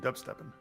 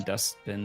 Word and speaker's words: Dubsteppin: Dubsteppin. I said it wrong for a long time. I kept saying dustbin or something.